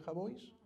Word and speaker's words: Jabois: un periodista del país Manuel jabois se pronuncia jabois Manuel le preguntó por